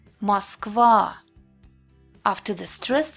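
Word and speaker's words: Москва: When it's unstressed at the beginning of the word or right before the stressed syllable, it's pronounced like A. Oligarch, Moskva.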